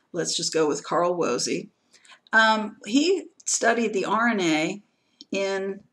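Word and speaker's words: Woese: a scientist named carl wozy that's how his name is tip and it's commonly pronounced in the german it would be different but let's just go with carl wozy he studied the rna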